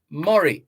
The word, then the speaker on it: Murrie: Mars Sr., the candy maker, and his associate, Bruce Murray. That Murray is spelled Murrie.